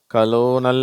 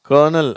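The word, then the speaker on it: colonel: இந்த வார்த்தையில் ஆரே இல்லை, ஆனால் இருந்தாலும் அந்த உச்சரிப்பு இது கலோனல் அப்படின்லாம் படிக்கிறாங்க, அது தப்பு. இது கர்னல், அதுதான் கரெக்டு. சரியா?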